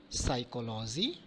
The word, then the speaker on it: psychology: Letter P can sometimes be silent letter, like receipt, not receipt, psychology, okay, psyche, etc.